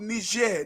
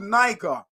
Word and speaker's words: Niger: is a country called ner ner right in English it would be called Niger right right but it's called ner because it is a French colony and it is pronounced in a French term ner right same thing